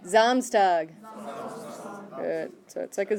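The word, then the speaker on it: Samstag: means freedom next one it's not Sam's tag okay try it zoms Doug took a Z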